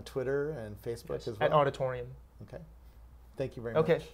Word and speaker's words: Aweditorium: do we find you on the web uh auditorium. comom it's spelled a little yeah it's spelled awe d i t o r IU M okay and you're on Twitter and Facebook as well Auditorium okay thank you very much thanks Robert